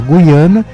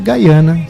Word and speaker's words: Guiana: Então popularizou-se e é correto falar Guiana, mas na hora que escreve é com Y, não com I, né? Ou então simplesmente Gaiana, que é o termo em inglês.